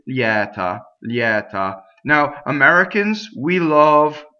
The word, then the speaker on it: lieta: unvoiced after that next word leotta ok so it's open a lot of people in speech do this closed ok so use your own discretion but technically it's Yetta Yetta now Americans we